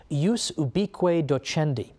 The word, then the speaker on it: jus ubique docendi: there was something called, in Latin, and I'm using the church pronunciation, jus ubique docendi, which literally means the right of teaching everywhere.